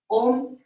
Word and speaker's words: Om: Om is divided into 3 syllables. A, U, and Ma.